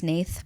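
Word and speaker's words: Hnath: No, I think it's just Nate, but it's spelled it's H N A T H.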